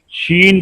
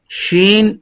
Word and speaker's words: شین: جی شین pronounced as شین using middle of tongue to touch the middle part of palates.